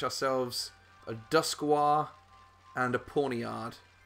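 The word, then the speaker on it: Pawniard: We got to catch ourselves a Duskwar and a Pawnyard. Which sounds kind of like Ponyta, but it's definitely not.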